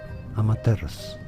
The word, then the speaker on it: Amaterasu: In Japanese, it is said as Amaterasu.